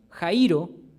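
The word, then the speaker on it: χαίρω: en realidad la palabra en griego Jairo con acento en la i significa estar feliz estar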